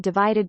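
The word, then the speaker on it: ÷: of his forthcoming album entitled Divided By, pronounced Divide, which was released on March 2017.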